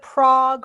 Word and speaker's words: Prague: Here, it's either Prague or Praha is the, you know, more traditional way, so close enough.